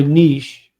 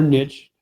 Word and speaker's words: niche: As far as my niche or niche, however you want to pronounce it, my niche has been,